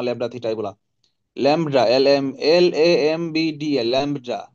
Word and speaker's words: lambda: ল্যামডা, LAMBDA, ল্যামডা। বি এর উচ্চারণ নাই, বলবেন ল্যামডা। ল্যাংডা বললেন না আবার কিন্তু কেউ, এটা দিস ইজ ল্যামডা।